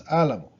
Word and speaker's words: álamo: But no, it's álamo, because we write down the accent.